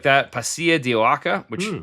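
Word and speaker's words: pasilla: Here's what I'll tell you about the pacia chili.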